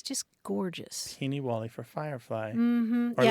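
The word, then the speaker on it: peenie wallie: Peeny Wally. Beanie Wally. Sounds familiar, yeah. Yeah, it's spelled lots of different ways, like P-E-E-N-I, and then another word, Wally, like the name Wally, Peeny Wally.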